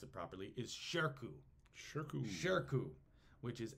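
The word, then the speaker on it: Shirkuh: is amazing and his name I want to pronounce it properly is sherku which is s uh s-h-i-r-k-u-h is how we spell it shirku is a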